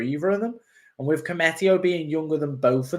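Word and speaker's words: Koumetio: is because i think klopp views uh billy comete i think it i'm saying it right cometio there you go thank you chris um commetio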